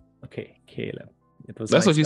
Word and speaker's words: Caleb: I'm pronouncing your name right how do you pronounce your name Caleb Caleb okay Caleb that's what you said right let's just collab